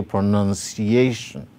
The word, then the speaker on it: pronunciation: see the stroke below so we say pronunciation pronunciation so pro none is carrying the secondary stress why a is carrying the primary stress while with the second